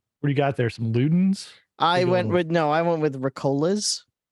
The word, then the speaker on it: Ricola: I went with Ricolas. Ricola, I think it's pronounced. Ricola. I remember from the song.